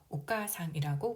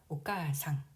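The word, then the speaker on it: お母さん: 어머니는 어미모에 접두 오와 상을 붙여 오까상이라고 부릅니다. 오까상. 카를 보면은 아 모음이 연속으로 와서 아 장음으로 발음하면 됩니다. 오까상, 오까상.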